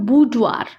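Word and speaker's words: boudoir: इसका प्रोनाउंसिएशन है बुडवार, यानी महिला का निजी कमरा, जहाँ पर सिर्फ लेडीज बैठती हैं, तो वो उसको बोलते हैं बुडवार।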